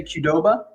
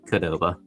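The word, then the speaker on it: Qdoba: How would you pronounce it? Um, I think I would say Kudoba. Okay, Ben, I pronounce it Koba. Koba. We're just going short. C. Mark, you're actually right. I'm upset that you had it right.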